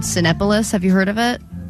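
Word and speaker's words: Cinépolis: Sinopolis. It's C-I-N-E. Yeah, it's like movie. It's Cinepolis. It's not Sinopolis.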